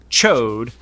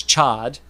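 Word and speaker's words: Ch'od: He's like giant amphibious, but his name is Chode, which I always pronounced it as Chad.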